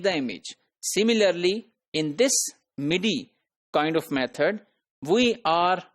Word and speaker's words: MIDI: an alternative method known as Mi which is pronounced as midi so this is musical instrument digital interface used